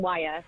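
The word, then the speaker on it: Wyre: It's Lancaster and wire.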